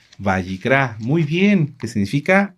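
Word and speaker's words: Vayikra: ¿Quién se acuerda cómo se dice Levítico en hebreo? ¿Cuál es el nombre correcto del libro? Bayicrá.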